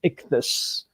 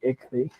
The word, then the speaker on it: Ichthus: So it's just they're just guessing like three names, and the closest one was Ichthy, but for the five guys is an S, so it's Ichthus. Ichthus.